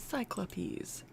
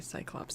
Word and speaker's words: Cyclopes: Okay, it is Cyclopes when you spell it with an E. Oh, shit. Okay. Maybe I should just say Cyclops, though.